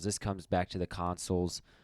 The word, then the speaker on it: consul: comes back to the consuls or council as i pronounced it early it's actually consul um two were elected